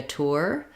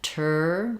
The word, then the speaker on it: tour: first syllable stress also when i'm saying tour some people will say it more like tourist tourists they don't have as much ooh rounding there so i can say i'm taking a tour i'm taking a tur you can't really say